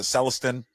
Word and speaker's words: Celestin: Young, or who's I don't know how to pronounce is it Celestin?